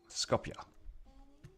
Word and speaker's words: Skopje: Oh, Skapu. How do you say that? Is that right? How do you say that? Skonje. I can't roll my K's or R's. Skopje.